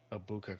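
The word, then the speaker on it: Egbuka: It's Abuka Christian. That's how you pronounce it.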